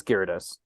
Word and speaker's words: Gyarados: I refuse to say it is no it's Gyarados my wife is like a she teaches English